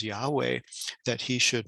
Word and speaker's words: Yahweh: He's even invoking the name, sacred name of God, of the Yud-He-Vav-He, commonly pronounced as Yahweh, that he should not be killed.